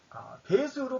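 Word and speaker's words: 패수: 폐수는 원래 배수로 발음이 됩니다. 배수. 배는 박다는 뜻이에요. 그래서 박수예요, 박수.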